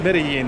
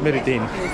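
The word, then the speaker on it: Medellín: Oh, it's pronounced Medellin, not Medellin.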